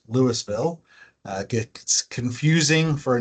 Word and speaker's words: Louisville: Uh, so Adam Blackmore, I'm the director of parks, record open space for the city of Lewisville, uh, Colorado, spelled like Louisville, pronounced Lewisville.